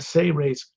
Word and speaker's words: Seres: One of the things I wrote in the Seres Agenda book, one of two books I published, S-E-R-E-S, Seres, it's pronounced, is a technique section